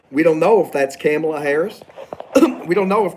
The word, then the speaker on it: Kamala: It's actually, that's how you pronounce it. It's Kamala. We have Donald.